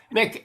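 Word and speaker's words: Muick: Mick is spelled M-U-I-K, and that's got to do named after a loch on the Balmoral estate.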